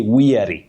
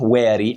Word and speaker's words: weary: Very tired, you say weary, not wary as we mistake it to be.